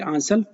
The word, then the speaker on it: आंचल: Care अभियान था आंचल, आप ऐसा बोल सकते हैं आंचल, या फिर आंचल, आंचल बोल सकते हैं, वो करेक्ट प्रोनाउंसिएशन हो जाएगा आंचल।